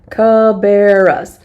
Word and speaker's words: Cabarrus: County I love that it gives us the pronunciation guide cabarras Cabarrus County Cabarrus County